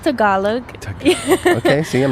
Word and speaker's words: Tagalog: so do you speak is it Tagalog it's pronounced Tagalog okay see I'm not